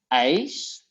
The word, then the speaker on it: ijs: And it's the same, you pronounce both like I, like when you burn your hand in the kitchen, I. Like I and ice.